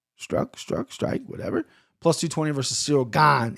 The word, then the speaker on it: Gane: plus 220 versus cyril gone it's gone not kanye gone minus 280. first and foremost hate this line do not know why gone is this high and